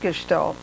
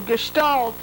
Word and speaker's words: gestalt: roots of being italian which helped you with gestalt and also you know the couple's thera therapy